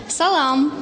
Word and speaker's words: салам: ударение это очень просто ударение падает всегда на последний слог Салам Салам Салам исключение буква э или